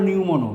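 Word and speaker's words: pneumono: Lung হলো নিউমোনো, পি উচ্চারণ হবে না, পালমোনারি।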